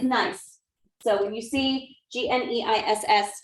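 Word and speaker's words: gneiss: this kind of rock what is it nice it's nice yeah just remember it's a really nice rock i know it looks like or something things it's that's terrible but it's nice so when you see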